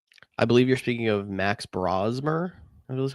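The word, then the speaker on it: Max Brosmer: I believe you're speaking of Max Brazmer is how you say the name.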